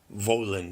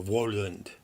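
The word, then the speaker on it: Woland: card the symbol of the double V pronounced Vohland or Warland and in the opening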